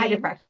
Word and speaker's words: Heidebrecht: I'm going to bring up Heidebrecht. Did I pronounce that right? Heidebrecht, yes.